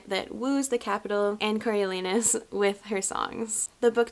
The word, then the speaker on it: Coriolanus: It follows 18-year-old Coriolanus Snow. I'm gonna try and say that right through the whole video, but in my head, I do pronounce it Cornelius, and I know it's not, but we're gonna do our best.